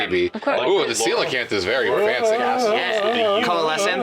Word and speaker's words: coelacanth: Ooh, the coelacanth is very fancy. Yeah. Coalescent. UV. plant No, growing. Nick. Coalescent. Nick, no, I will Yes. correct you. Coalescent. It's coelacanth, Nicholas.